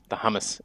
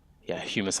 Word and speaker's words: humus: there, it'll actually plant the hummus itself, or humus, because it's not really hummus, it's humus, I think is how you pronounce that one, to put the saplings on.